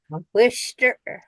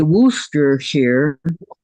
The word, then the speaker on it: Worcestershire: Okay, say Worcestershire. They don't pronounce the CH in the word.